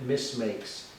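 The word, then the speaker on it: Misc Makes: second Channel and I'm calling it Miss makes and the mistakes we spell it m-i-s-c period makes because they're miscellaneous makes um so yeah so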